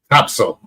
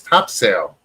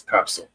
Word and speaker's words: Topsail: here because they love Topsail. That's how you pronounce it. Down there, over there, up Okay. there from here. Anybody else in America says, oh, that's Topsail. Nope, it's Topsail.